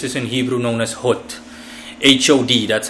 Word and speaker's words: Hod: This is in Hebrew known as Hod. H-O-D, that's how it's spelled.